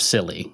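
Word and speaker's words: Scilly: So, basically as far west as England goes is the Silly Isles, and it's spelled S C I L L Y.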